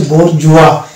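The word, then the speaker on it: bourgeois: এবার কিছু আমরা র্যান্ডম ওয়ার্ড পেয়ে যাব যেখানে কোনো ফর্মুলা মানে না, যেমন হচ্ছে এটার এই শব্দটির উচ্চারণ হচ্ছে বোরজুয়া, এই ক্ষেত্রে কিন্তু এস এর উচ্চারণ বা প্রনাউন্সিয়েশন আসছে না, এটার উচ্চারণ হচ্ছে বোরজুয়া।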